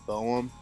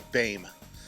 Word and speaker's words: Boehm: them okay bird gang it's not boom it's not I don't know how some people even pronounce my last name it's bang it's German last name the O the E and the H they all make an a sound so it's like b a m e so uh that's how